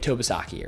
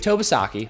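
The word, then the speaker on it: Tobesofkee: Okay, Lake Tobasaki area. Lake Tobasaki. I'm going to spell it for you because when you go and drive and see a yard sign, you won't have any idea.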